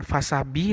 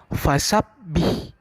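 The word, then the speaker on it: فَسَبِّحْ: Maka cara bacanya adalah ditahan sejenak. Bisa perhatikan anak Bapak, bukan fasabi tapi fasabbih.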